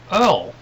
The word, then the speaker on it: oil: Believe it or not, in the Midwest they pronounce the word oil earl.